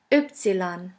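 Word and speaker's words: Ypsilon: In German we say the next letter is oopsilon which sounds like yoga.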